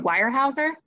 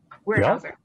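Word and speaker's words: Weyerhaeuser: about the wire um i'm totally going to mispronounce it but wirehauser building warehouser warehouser gotcha yeah no relationship to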